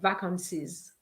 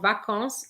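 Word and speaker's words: vacances: want to say or vacance and i remind you is not vacancies the s on vacance is silent okay so now i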